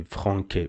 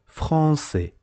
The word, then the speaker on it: français: And it is pronounced C, like français. Don't say franquet, because this is CCD, and CCD is pronounced C, so you must say français.